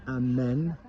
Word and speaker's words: emmener: But we need to pronounce it amen.